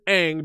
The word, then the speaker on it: Aang: Like, cause I thought, like, he decided that he was gonna make the names like how they should be pronounced in like the actual like language that they're spoken. And it's like, no, his name his name is Aang because this is a Nickelodeon show and Yeah.